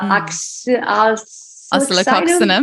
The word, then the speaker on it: Oscillococcinum: My other remedy that I probably share the most with people is the flu remedy, the oscillococcinum.